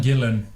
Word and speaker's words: Gillan: I saying it right is it Karen Gillian or Gillan Ian Gillan Gillan yeah I gave her an